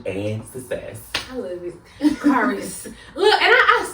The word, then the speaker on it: Kharis: It'll be everything but Kharis. Everything and but Kharis. sometimes I would stop and be like, it's Kharis.